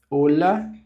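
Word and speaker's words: hola: Então, vamos lá, que é o olá, que tal, olá. Então, o H é mudo.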